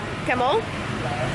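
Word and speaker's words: cảm ơn: All right, we were told that thank you, you say it like camel, like kind of like camel, but a little bit more like a U instead of an E. So like camel, camel.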